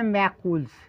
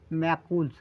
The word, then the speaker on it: Macules: ফেলি চর্মরটা নাম তারপরে আপনাদের বিভিন্ন তথ্য দিচ্ছি উচ্চারণটা হবে ম্যাকুলস ঠিক আছে বাংলা লিখে দিই তাহলে ভালো হবে ম্যাকুলস উচ্চারণটা কিন্তু ম্যাকুলস ঠিক আছে এর উচ্চারণ তো